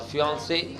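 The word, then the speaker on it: fiancée: फियांस हो गया लड़का और फियांसे, सॉरी फियांसे, दोनों का प्रोनाउंसिएशन फियांसे है।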